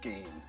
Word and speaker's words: Ghan: thing it's pronounced as Gan as in the Afghan Express and not Gan as I've been doing